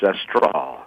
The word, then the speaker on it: Astral: It's a straw.